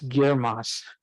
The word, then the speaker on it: GIRMOS: it's a mouthful and we spent a lot of time figuring out how to pronounce it and it's girmos so it's easy to uh